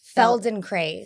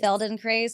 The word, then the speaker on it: Feldenkrais: Feldenkrais. Feldenkrais.